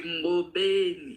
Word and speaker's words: Ngobeni: I like how you even pronounce my surname like the way it's supposed to be Ngobeni.